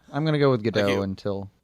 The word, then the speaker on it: Gadot: I'm going to go with Gadot until... No, the T is hard. It's a hard T.